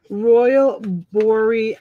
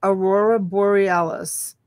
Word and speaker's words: Aurora Borealis: Royal Borealis. Aurora. Aurora. A what? Aurora. Aurora. Bore. Bore. Alice. Alice. Aurora Borealis.